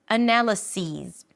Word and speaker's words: analyses: this and these because analysis rhymes with this. This analysis this analysis and analyses rhymes with these these analyses.